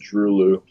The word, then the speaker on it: Droeloe: right now it would be Drulu. It's spelled Droeloe. I think they're German, so it's pronounced Drulu.